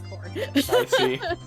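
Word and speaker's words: Khorne: what corn of corn it's spelled k-h-o-r-n-e but it's corn oh a puff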